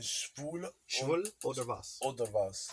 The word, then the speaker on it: schwul: Yeah, it's spelled ICH. Binish. Schwul.